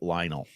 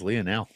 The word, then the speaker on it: Lionel: Patrick Johnson called Lionel Messi Lionel. I I just can't abide. You can't abide. Wow. Such a snob. Man's name is Lonel.